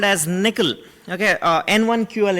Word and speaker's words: N1QL: new language called as nickel okay uh n1ql it's pronounced as nickel uh which is an